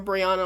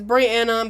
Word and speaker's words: Brianna: Like if they just read it out, people ask me if I my name is Brianna or Briana all the time and I'm like it's Brianna, but I don't know how to write that.